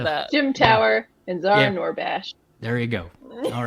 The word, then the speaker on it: Noorbakhsh: Zahra, I'm going to say it right again, Noorbaksh. I'm just happy to be on a show with Noorbakhsh. I'm just happy to be on a show with somebody else. I did it. Noorbaksh.